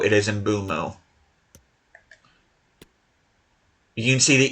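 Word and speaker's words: Mbeumo: But yeah, I have heard people pronounce it embuo. It is not embro. It is embumo.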